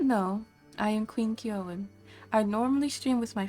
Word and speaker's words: Kyoin: curious about how to pronounce my name i pronounce it keown and if you don't want to pronounce that